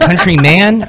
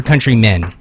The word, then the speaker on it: Countryman: Is it countryman or countrymen? It's countryman. Countryman.